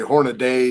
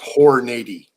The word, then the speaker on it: Hornady: want it in there that's southern internet everybody mispronounces this hornady some say hornaday some say hey if you're calling me southern